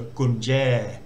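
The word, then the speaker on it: กุญแจ: And then the second syllable, we've got the air vowel again followed by a Georgian, so that makes a J sound rather than J. So gunje, which means key in Thai.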